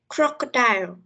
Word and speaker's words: crocodile: Ví dụ như từ đầu tiên crocodile, mình sẽ đọc lớn ở cái phần âm đầu tiên bởi vì nó chính là trọng âm của từ.